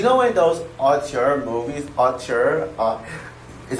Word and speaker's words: auteur: You know, in those auteur movies, auteur is how you pronounce it, like, but you know what I